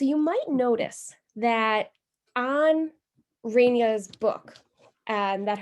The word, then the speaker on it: Renia: might notice that on Renia's book, that her name is spelled R-E-N-A, like Rena, and she is also called Rena in many places, whereas we call her Renia.